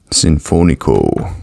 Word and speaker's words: Sinfonico: have the Symphonic Oh Alexa how do you pronounce si n f o n SE o sinfoni co cool all right we got the dark roasted